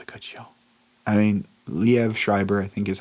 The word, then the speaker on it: Liev: good show I mean Liev Schreiber I think is how you say his name I said live before but it's Liev because I think it's iev that guy can [